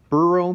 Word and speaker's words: BERU: I want to tell you guys real quick, Beru, B-E-R-U, I believe that's how you pronounce that.